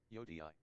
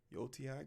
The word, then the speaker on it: Yotei: Yotei. Yotei, Ghost of Yotei.